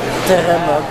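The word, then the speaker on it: Теремок: Donc voilà, c'est TPMOC, Terremoc, parce que le P se prononce R, et c'est un fast-food russe.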